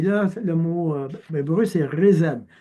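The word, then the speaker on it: חסד: Et là, le mot hébreu, c'est rézed. Oui, je sais, c'est un H, là, mais ça se dit rézed.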